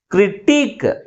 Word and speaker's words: critique: Okay, next second one is critique. How many syllables in this word? 2 syllables. Which syllable is pronounced with a greater force? Last syllable is pronounced with a greater force comparing with first one.